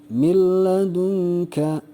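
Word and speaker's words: مِنْ لَدُنْكَ: Jadi bunyi nun matinya tidak ada gitu ya, tapi dimasukkan atau dilebur ke dalam huruf idgham yang ada di hadapan nun mati tersebut. Seperti ini, yang nomor 1 contohnya, nun mati menghadapi lam, jadi bacanya sekali lagi tidak disertai dengung. Jadi tidak ditahan dulu 2 harokat, tapi langsung dilebur. Jadi bacanya adalah milladunka ya, jadi langsung.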